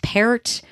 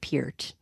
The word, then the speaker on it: Peart: to look it up it's parrot um not Peart that's like one thing I make sure I don't mess up is Neil parrot because everybody nobody knows how to say his name um okay so Raj